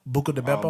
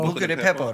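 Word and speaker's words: Buca di Beppo: Buca de Beppo. Buca de Pepo.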